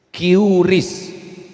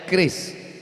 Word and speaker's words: keris: Cris. Cara bacanya keris.